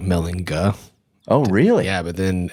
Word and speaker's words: Mellinger: but pronounced like a j right so German pronunciation like melinga oh really yeah but then Ellis Island did